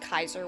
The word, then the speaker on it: Caesar: hear it with Caesar Caesar is actually pronounced Kaiser which is where the German word comes from um but yeah just